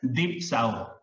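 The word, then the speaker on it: διψῶ: And it's pronounced as dipsao.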